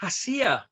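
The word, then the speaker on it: Heceta: oregon is that correct we pronounce it haseah hassir hasia there you go i knew it wouldn't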